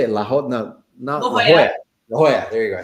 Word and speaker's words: La Jolla: La Jolla.